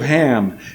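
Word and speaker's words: חָם: referred to this verse as the curse of Ham, and many have erroneously taught that the Hebrew word behind Ham means black.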